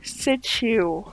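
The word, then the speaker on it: Shih Tzu: I sent you and no I am not saying that curse word it is pronounced situ what about this cute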